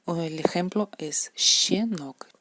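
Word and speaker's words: щенок: Y el ejemplo es shenok. Es como la sha, pero más como silbamos un poquito.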